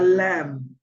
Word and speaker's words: lamb: as gentle as a lamb I here one thing whenever you get have a b after an M that b is silent okay so here you want to say a a lamb is considered to be